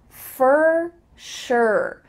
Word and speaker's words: for sure: Even though for includes an O and sure includes a U, they both sound like ER. Fur, sure.